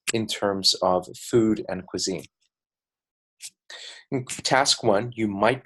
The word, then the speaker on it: cuisine: like a cue and then the S becomes more like a Z like the letter Z so it's pronounced cuisine this word is actually